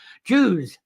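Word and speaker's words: Dews: known as the Jews sorry it's not Jay I'm happy to be careful I'm trying to pronounce that letter Jews d-e-w-s so you've got the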